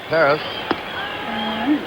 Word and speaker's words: Perez: the on Deck man Perez Perez I think kubc is correct he says Paris peris I guess that's the Latin American pronunciation Perez but Canal said